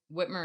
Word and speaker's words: Whitmer: that's her name right it's gretchen whitmer i'm pretty sure i think that's it that's correct i don't want to say it wrong no it's whitmer is correct okay whitmer governor whitmer